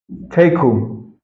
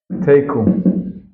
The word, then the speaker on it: teku: Teku. Teku. It's usually the way it's pronounced. It means, in Aramaic, the simple interpretation means the matter stands.